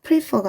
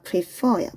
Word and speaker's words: prefer: 그러나 어디에 강세가 이렇게 이름절에 있는 게 아니라 이렇게 바로 뒤에 여기 뒤에 강세가 있는 경우는 예를 들어서 prefer가 아니라 prefer야. prefer. 세게 읽는 부분이 뒤에 있죠.